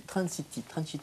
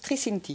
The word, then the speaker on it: Tricinti: On va voir ce que vous dites sur un certain, je crois, Michel Trinciti, c'est ça? Comment ça qu'on prononce? Tricinti. Tricinti, pardon.